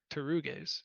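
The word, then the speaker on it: pteruges: Yeah, Which, yeah, or I think technically now my Greek pronunciation is not great. I think you actually would say pter. I think there is essentially a vocalization of the P, but anyways, that's all nerd stuff.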